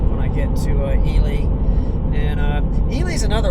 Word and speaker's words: Ely: It is Elely. And I guess I can kind of see that. So I try to try to make sure I call it actually how they pronounce it, which is Elie.